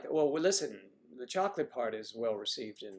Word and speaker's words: chocolat: White chocolate bunnies because I like white chocolate. I like milk chocolate. I like dark chocolate. I like chocolate. Chocolat. Chocolat for Alex if she's listening. I want to make sure I say it right. It's chocolat.